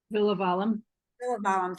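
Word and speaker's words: Villivalam: Villavalum. Villavalum, thank you.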